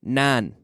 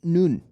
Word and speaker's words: none: It's almost, and it says in your student guide, N-A-A-N, nan. N-A-A-N, none. It's not nun or known, but none.